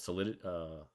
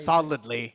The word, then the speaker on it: Solidly: And somebody mentioned one that Andre's new project, they're utilizing the governance tokens as well, called Solidity. Is that how you say it? Solidly. Solidly. Sorry.